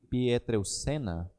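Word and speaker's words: Pietrelcina: o Padre Pio de pietral Sena é que é assim que se pronuncia o nome dele disse que Bendita é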